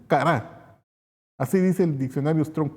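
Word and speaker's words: קָרָא: Según el diccionario Strong Concord, la palabra hebrea 71:21 y se pronuncia kará.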